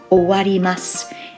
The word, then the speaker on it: 終わります: It's pronounced owarimasu, and you can see that kanji is the o part of that verb.